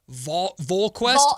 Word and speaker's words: VolQuest: And we got Mike Wilson, who covers University of Tennessee athletics for VolQuest. It's a Vol. Think of like Hall Volunteers. Vol. VolQuest. Yep. I got to make sure I pronounce that right when he comes on the show.